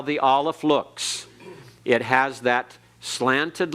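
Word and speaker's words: aleph: for the ion and this letter is silent it cannot be pronounced unless it has a vowel with it and in some cases it is absolutely silent it's in a letter or in a word rather it's any word and is absolutely silent it's there but is not pronounced at all so Olive is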